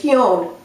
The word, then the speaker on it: hewn: looked it up later is hun I had no idea what hun means I knew how to spell it h e w n a h stone is